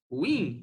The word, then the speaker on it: ruim: A pronúncia correta é ruim, porque ela é oxítona, tá certo?